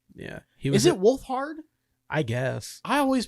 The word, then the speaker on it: Wolfhard: I couldn't I uh Finn Wolfford. Yeah. Is it Wolfhard? I guess I always pronounced it Wolfford because that set that I I don't pronounce it.